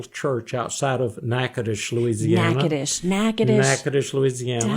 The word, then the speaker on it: Natchitoches: Natchitoches, Louisiana.